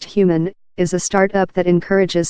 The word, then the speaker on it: HVMN: HVMN, pronounced human, is a startup that encourages smart fasting.